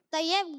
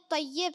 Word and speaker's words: طیب: طیب غلط تلفظ ہے، طیب صحیح تلفظ.